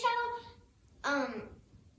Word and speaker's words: cello: I've been as I was doing my research on the cello, it's pronounced cello, like with a C-H.